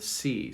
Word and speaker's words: sea: Can I see the body of water, the sea? So see and see have no difference. They are pronounced the same.